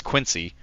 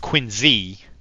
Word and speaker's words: Quincy: When I first moved up here, you see the way it's spelled and you're like, oh, that's Quincy. It's not. It's pronounced Quincy.